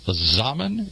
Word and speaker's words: Zaman: politics, a columnist from Today's Zaman. Is that how you pronounce it? And yes, that indeed.